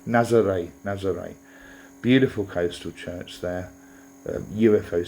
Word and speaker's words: Nazaré: I'm saying, let me pronounce that correctly. Nazaré.